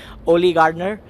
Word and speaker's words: Oli Gardner: I'm with the founder and CEO of Unbounce Olli Gardner I hope I pronounced your name right yeah the name yet